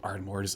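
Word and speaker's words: Ardmhor: ardores under the name ardore but spelled a i r d m h o r it's just a fun way to to to say it without actually saying it cuz phonetically you're going to say that as ardore uh but yeah Ard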